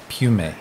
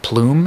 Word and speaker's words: Piume: Is Pium? Is that how Piume. Piume. Yeah. Okay. Sorry about that. No, it's all good. You'd be surprised. Most of my distributors have called it Plume instead of Pium.